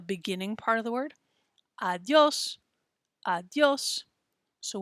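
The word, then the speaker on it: adiós: word adios adios so when we see those little accent marks that will help us out to know how to pronounce it it tells us where to put the stress on a word stress means say it a little bit louder and a little stronger right there adios adios so you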